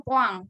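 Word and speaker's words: point: Atau kalau dalam bahasa Prancis, titik itu dibunyikan dengan poang.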